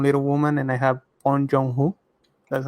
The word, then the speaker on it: Bong Joon-ho: seen anything from Little Woman, and I have Bong Joon-ho. That's how you pronounce it.